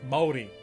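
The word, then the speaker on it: Māori: It's Maori. It's 2 syllables.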